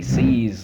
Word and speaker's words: seize: it is the word seize what's the word exactly seize like he sees me with his own eyes he views me with